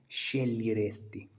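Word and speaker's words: sceglieresti: जैसे क्वाले शेलियरेस्ती, तो इसको इस प्रकार से बोलना है SCE। तो इसके शे GLI, जी साइलेंट रहता है, लियरेस्ती, शेलियरेस्ती, क्वाले शेलियरेस्ती।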